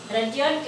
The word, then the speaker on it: Rudyard: Rudyard, we should not use the pronunciation of Rudyard.